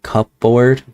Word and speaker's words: cupboard: It's kind of weird how it looks like it says cupboard, but it's pronounced cupboard.